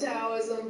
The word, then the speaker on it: Taoism: Sounds like, did you say Taoism, T-A-O? Yeah, it's pronounced Taoism, but it does, yeah, yeah.